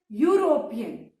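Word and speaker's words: European: अब बेटा यूरोपियन में किसका साउंड आ रहा है? साउंड किसका आ रहा है इसमें? इसमें साउंड आ रहा है वाई का.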